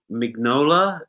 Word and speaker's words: Mignola: Mike Mignola, is that how you pronounce it? Mike Mignola, yeah.